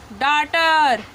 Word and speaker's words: daughter: यहाँ भी GH जो है हमारा साइलेंट है क्योंकि किसी भी वर्ड में U के जस्ट बाद GH आता है तो वो साइलेंट होता है।